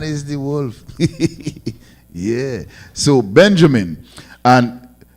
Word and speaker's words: Benjamin: So Benjamin, and is pronounced in the ancient Hebrew Ban Yam Yan. Ban Yam Yan.